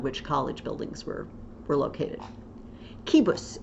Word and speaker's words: cibus: Kibus is the next one, or chibus. in ecclesiastical pronunciation.